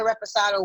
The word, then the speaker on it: reposado: I got this one and I got the Reposado one. But I just, I was taking shots with the Blanco. Reposado. Oh my God. Reposado. That's how you say it. Reposado. You gotta say reposado.